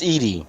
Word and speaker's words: Edie: and okay, is it Evie, Edie, or Eddie? It's Edie. It's Edie. Okay, so I did pronounce it correctly earlier.